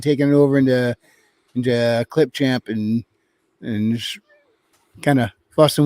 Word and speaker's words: Clipchamp: is easy to yes clipchamp I said it right this time I usually say chip clamp I don't know why